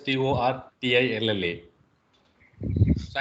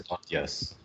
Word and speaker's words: tortilla: my friend told me you don't you don't pronounce it as a tortillas as it is in the spelling but you call it as thought yes that's that's that's the